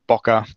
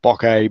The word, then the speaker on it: bokeh: You can pronounce it bokeh, bokeh, bokeh. There's no real right or wrong way to do it.